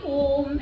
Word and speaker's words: Om: So pronunciation is a, u, and m.